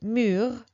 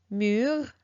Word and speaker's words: mur: All right, so the fifth one is U, U, and here I chose the word mur. Mur means the wall, wall, mur, mur.